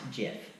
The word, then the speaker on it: GIF: way like the owner the man that created the jib publicly said while receiving an award for the gym that it is pronounced jiff how would you like